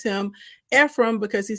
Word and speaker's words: Ephraim: So I know it looks like Ephraim, but it's not Ephraim. It's Ephraim. Okay. That's his second son. That name means fruitful. And he names him Ephraim because he says, God